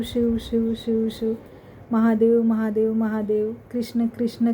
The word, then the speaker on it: कृष्ण: नाम जब लेना है तो कृष्ण कहिए कृष्ण आ की मात्रा मत लगाइए अगर आप कृष्णा कहेंगे तो देखिए कृष्णा हम बोलते हैं प्रोनाउंसिएशन में आता है कृष्णा पर उनका एकदम प्रॉपर जो नाम है वो कृष्ण है कृष्ण अ की मात्रा